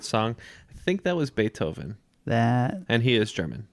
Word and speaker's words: Beethoven: you are both correct it is Beethoven extra points for gritty for pronouncing it the corrected German way so Beethoven was promptly